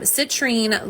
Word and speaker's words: citrine: Um, citrine limes with latrine.